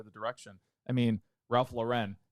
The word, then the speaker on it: Lauren: saying hey he said it's pronounced Lauren like the name yeah by the way